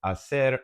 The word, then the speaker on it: hacer: A key thing to remember, of course, is that with the verb hacer, it's pronounced hacer, and in this case, we're saying hace falta.